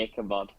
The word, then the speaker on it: Ichabod: there we go yeah ichabod or however you pronounce it and peggy definitely ichabod is it ichabod thank you and then obviously